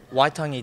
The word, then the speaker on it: Waitangi: What is exactly, I'm going to say it wrong, Waitangi Day? Waitangi Day.